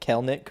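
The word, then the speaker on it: Kelenic: Is it Kelnick or Kellenick? Yeah, Kelnick. It's the Kelnick side. All right. Kirk. 2 syllables. Just remember that.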